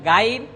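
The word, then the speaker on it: غين: তার গুণাবলী রয়েছে সে মোটা হরফ আমরা একটু মোটা করে উচ্চারণ করছি একটা হলো গাইন আর গইন যাতে করে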